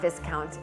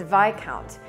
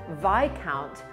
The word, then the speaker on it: viscount: not this count it's vi count i of course had you know the greatest one-liner comeback ever and i said but why would it be pronounced vi count when it's spelled exactly like discount and that is the